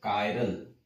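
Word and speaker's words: chiral: के ऊपर, कायरालिटी और कायरल, हिंदी में लिखता हूं मैं कायरल ताकि प्रोनाउंसिएशन में गड़बड़ ना हो, ठीक है।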